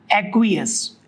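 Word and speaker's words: aqueous: और अगर AQ लिखा है, AQ, तो that is called एक्वियस। एक्वायस, एक्वियस, दोनों प्रोनाउंसिएशन सही है।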